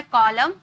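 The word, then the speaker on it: column: लेकिन एम और एन अगर एक साथ रहते हैं ना तो एन को साइलेंट कर दिया जाता है। यानी कि चुप करवा दिया जाता है। कॉलम डैम कॉलम एम एन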